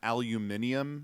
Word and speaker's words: aluminium: bad way of sping the British say Al aluminum aluminium aluminium it's got a v in there yeah it's like it's like